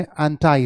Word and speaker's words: anti: इसमें एक चीज और जाने, इसकी प्रोनाउंसिएशन ANTI, इसकी प्रोनाउंसिएशन अमेरिकन में एंटाई होती है, तो दोनों प्रोनाउंसिएशन एक्सेप्टेबल है। एंटी ब्रिटिश है, एंटाई अमेरिकन है।